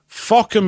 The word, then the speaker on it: Fawkham: Although in this case, Fockham is spelt, you look it up, Fawkham. Different spelling, you see.